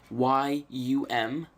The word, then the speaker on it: yum: from now on out this pronounce this as young for you I'll just say yum yum install HTTP D